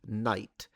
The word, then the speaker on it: knight: axe, that night, uh originally the K was pronounced.